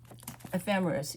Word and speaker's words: ephemeris: So now, here's two ephemeris right here. Ephemeris, Ephemeris. That's pronounced ephemeris.